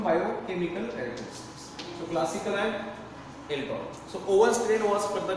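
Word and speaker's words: El Tor: Actually I was pronouncing it as an EI, actually it is not EI, it is ELTOR vibrio.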